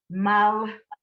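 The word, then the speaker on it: מלכי: Whenever you see the schwa, the silent vowel, you blend into it. That actually one syllable is mal because the silent vowel that isn't pronounced.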